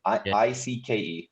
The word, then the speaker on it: Icke: And I think, is it David Icke or is it? I think it's David Icke. Is that his name? Icke. That's how you pronounce it.